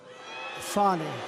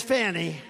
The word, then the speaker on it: Fani: Now, even though I believe it's spelled F-A-N-I, to my way of thinking, that's Fanny. But once she became the district attorney, I think she put a little emphasis on the U.